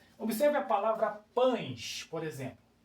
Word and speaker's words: pães: Observe a palavra pães, por exemplo. Pães, você não pronuncia pães, o é o e sai com som de i, ó. Pães, não é verdade?